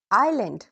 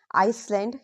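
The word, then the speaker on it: island: mistake so be careful now let's move to silent S these are very common daily words examples आइलैंड आईल oil debris pronunciation क्या होगा आई एस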